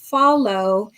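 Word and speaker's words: Fahlo: a video before about um a company called Follow and Follow is um is spelled F A H L O and they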